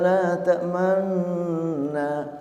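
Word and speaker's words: لا تأمنا: Qalu ya abana ma laka la ta'manna. Dan itulah yang harus kita praktikkan membaca ayat ini. Membacanya la ta'manna tapi mulut dikedepankan. Namanya ismam.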